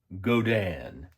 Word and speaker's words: Godin: This is my very first Godin, as I understand it's supposed to be pronounced.